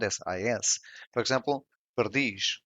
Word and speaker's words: perdiz: Iz, which has the same sound as is, for example, perdiz, which means partridge, the stressed syllable is in dish.